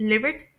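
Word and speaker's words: livid: और इसमें जो वोवेल साउंड आ रही है शॉर्ट वोवेल वो शॉर्ट आई की साउंड है। जैसे यहां पर वर्ड है ना किड तो बिल्कुल सेम इसी तरह इस वर्ड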